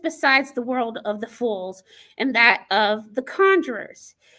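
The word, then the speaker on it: Fewls: section section real quick so it's spelled f e w LS fools or non magical people and places okay it sounds like fools but and I think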